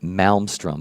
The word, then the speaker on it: Malmstrom: I guess you would technically pronounce it Malmstrom, but I like Maelstrom better.